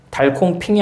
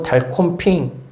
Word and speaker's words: 달콤핑: 그러면 첫째가 말하기를 달콩 핑이 아니고 달콤핑 콩이 아니라 콩 콤이라고 이러면서 엄청 뭐라고 합니다.